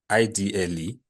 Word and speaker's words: IDLE: You mean idle? It is not idle. Don't call it idle. I know it spells Oh, like I do, but it's IDLE. Just pronounce it out. Call out the letters.